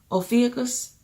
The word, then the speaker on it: Ophiuchus: Oh, I can't pronounce it, no. Ophiuchus.